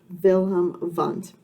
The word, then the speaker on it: Wilhelm Wundt: Uh, it can be difficult to pronounce his name, um, because in Germany they pronounce the "W" with "V" sound. So let's practice this together, Wilhelm Wundt.